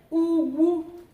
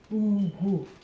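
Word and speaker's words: ugwu: Then Ugu, meaning hill. Ugu, dignity. Low, low. So Ugu means dignity.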